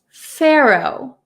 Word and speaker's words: Pharaoh: a r a h it looks like far far um but we pronounce it in American English as Pharaoh Pharaoh so it's a little tricky the pH sounds like an F but we don't write